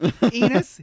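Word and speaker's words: Enos: but enus over here his his name rhymes with penis enus he'll get you a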